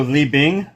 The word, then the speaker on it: Li Bing: So Lee Bing.